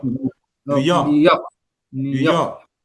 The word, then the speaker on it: New York: New York, New York, New York, Repeat it again. New York, New York. That's very good. So we say New York. New York, not New York. New New York.